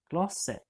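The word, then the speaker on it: glasset: and saying the glass you would say gloss it and as you'll see the T is silent at the end of that word but something else to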